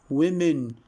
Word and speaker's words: women: remember we mentioned that the word City the word busy the word women the word pretty the word village here we have different letters but they are we have they are pronounced in the same way so city busy women